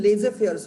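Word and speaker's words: laissez-faire: Till 20th century the majority of the governments had adopted a policy of laissez, like इसका pronunciation laissez faire होता है।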